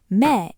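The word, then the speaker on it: 目: Now two readings will feel wrong. Me is just me. Ha is just ha. One syllable each and your brain will insist a real word must be longer. Don't let it. Those are exactly right.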